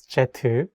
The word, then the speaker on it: 제트: In Korean, as you know, jet should be pronounced as jetu.